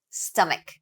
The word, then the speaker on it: stomach: by a diphthong e stomach stomach again we have the uh vowel here where we barely open our mouths stomach stomach temperature temperature